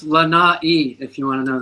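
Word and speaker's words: Lanai: He's Hawaiian Lai. Yeah, that sounds good. Rolls off the tongue. But it's actually pronounced Lana if you want to know the truth.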